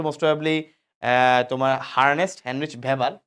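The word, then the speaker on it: Weber: থাকে কিছু ছোট ছোট অস্থির মাধ্যমে এদেরকে বলে ওয়েবেরিয়ান অসিকল একটা বিজ্ঞানীর নাম অনুসারে বিজ্ঞানের নাম হচ্ছে মোস্ট প্রবাবলি তোমার হারনেস্ট হ্যান্ডরিচ ভেভার তো অনেক ভেভার অনেকে ওয়েবার বলে উচ্চারণ করতে গিয়ে কোন সমস্যা নাই তোমাদের বইয়ে ভেভার লিখছে আসলে ওয়েবার বললে ভালো যাই হোক কিছু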